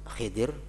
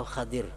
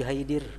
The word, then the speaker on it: Khidir: aku bertanya kepada Khidir ada dua macam cara membacanya khidri Khidir atau Khadir nabi Khadir atau Nabi Khidir jangan nabi Haidir nabi Haidir k ada